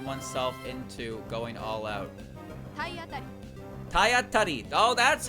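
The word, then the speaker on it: たいあたり: Tayatari. Oh, that's how you pronounce it.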